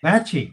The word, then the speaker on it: Lachey: Lachey. It's spelled that way right here. Lachey. It just needs a K for like a latchkey kid.